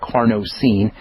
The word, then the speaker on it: carnosine: Zinc carnosine, not carnitine, but carnosine.